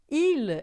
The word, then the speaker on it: il: Il, o L final em francês, a gente sempre vai falar som de L mesmo, não é? I, né? Em português, a gente quando tem um L final a gente acaba falando pastel, né? Carnaval. A gente faz o som de L como U.